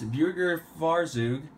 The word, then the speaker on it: Burgerfahrzeug: we're taking a look at the very unique B Burger Faro I think is how it's pronounced yes buger farou otherwise known as BF Surfer this will be